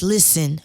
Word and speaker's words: Lizzen: it tells everybody like my name is listen but I spell it l z z m yeah yeah so that's